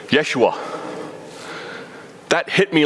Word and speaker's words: Yeshua: know wait a minute we think jesus the way we pronounce it we're totally wrong totally wrong it was really joshua or yeshua was the name there pretty cool all